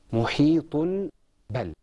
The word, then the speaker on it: محيط بل: Muhitun bal. This is usually pronounced muhitun bal. But because we have tanween and we have a ba, we say it muhitun bal.